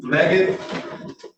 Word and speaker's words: Leggett: Sheldon Leggett. Yes. Did I get the pronunciation correct, Mr.